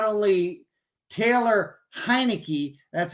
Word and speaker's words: Heinicke: Second of all, I think that money that went to Carson Wentz should have went to not only Taylor Heinicke, that's how you say his name, but they